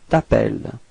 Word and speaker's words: t'appelles: this tu t'appelles, Okay, final S is not pronounced. Tu t'appelles.